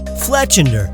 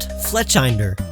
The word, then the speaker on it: Fletchinder: Fletchinder, like cinder, not Fletchinder.